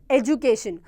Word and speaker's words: education: written we pronounce it education we pronounce this as j this d as j right that is what we mean by british english but when you pronounce